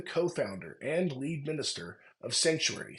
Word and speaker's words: Psanctuary: and Lead minister of sanctuary spelled with a p like psilocybin which is a sacred